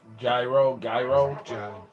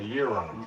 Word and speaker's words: gyro: Like they Greek gyro. A euro. Yeah, The G is silent.